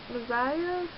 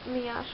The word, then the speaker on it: Miasha: My friend, Messiah, I think that's not how you pronounce her name. No, it's Miasha, I'm sorry.